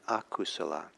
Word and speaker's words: akusala: And it's in Pali, it's Kusala and Akusala. Kusala is spelled K-U-S-U-L-A. No, K-U-S-A-L-A. And Akusala is the A in front of that.